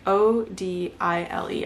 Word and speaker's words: Odile: explained it in the book I think it's odile like o d i l e I thought it was supposed to be pronounced oddly but her name's odile anyways it's about those